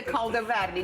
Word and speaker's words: caldo verde: This is a caldo verde.